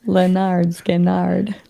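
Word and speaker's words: Lynyrd Skynyrd: Brent says Leonard Skinnard. Thanks, Brent. I appreciate that. Pronounced Leonard Skinnard. He says Leonard Skinner.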